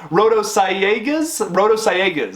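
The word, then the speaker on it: Sayagues: names who are in charge of this film rotosciegas is how it's how it's pronounced there we go i'm really bad at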